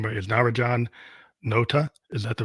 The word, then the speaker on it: Narajan Nota: make sure I got your name but is Naraj Johan Nota is that the right way to say it